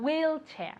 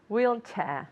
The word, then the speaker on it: wheelchair: good wheelchair wheelchair okay the accent goes at the beginning wheelchair one more time very good money and your turn wheelchair very good wheelchair okay